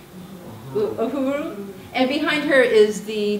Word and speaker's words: Uhuru: You can see Lieutenant, I'm not a Trekkie, is that Uru? Uru, how do you say it? Uhuru.